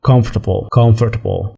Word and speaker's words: comfortable: خلي بالك من كلمة comfortable، مش النطق التاني، ها، مش هي خالص، مش اللي في بالك، لا. comfortable.